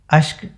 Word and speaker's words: अश्क: वो जो इश्क कहती है ना, एकदम सटीक, ऐसा लगता है कि यही उच्चारण होना चाहिए, यही साउंड होना चाहिए, इससे ना ज़्यादा ना कम, है कि नहीं। तो इश्क के क में नुक्ता है, अश्क के क में नुक्ता नहीं है।